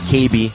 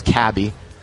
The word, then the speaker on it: Caby: your last name, because I always thought it was Caby. But Caby, like Caby Toy Stores, right?